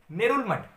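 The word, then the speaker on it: Ngerulmud: The next country is Palau and the capital is नेरुलमठ। Ji silent है।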